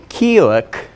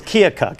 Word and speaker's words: Keokuk: in Iowa right but I think it's Kilik August 12th all right I'm going to be opening for Michael Winslow a police academy oh that's awesome yeah yeah and if I pronounced it wrong it's Keokuk actually wow but that's okay